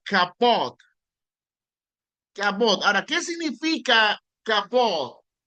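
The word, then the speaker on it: כבוד: La palabra honrar en hebreo se pronuncia kapot.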